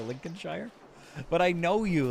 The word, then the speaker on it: Lincolnshire: It's pronounced like this, Lincolnshire.